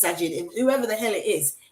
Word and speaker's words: Sajid: Sajid. Yes. Sajid.